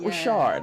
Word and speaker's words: Ri'Chard: Robert Ri'Chard.